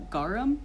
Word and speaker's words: garum: I was also surprised with garum. Is that how it's pronounced?